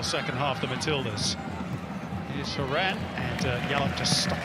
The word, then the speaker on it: Horan: a free kick and i will call a haran second half not horror in the english pronunciation sam kerr brought down